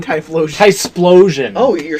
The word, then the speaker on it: Typhlosion: Typhlosion.